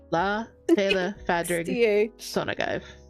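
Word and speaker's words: Lá Fhéile Pádraig sona duit: uh yeah, but here this is how you say happy St. Patrick's Day. In uh Irish, it's la fail sonag. La fail fadric sonagive.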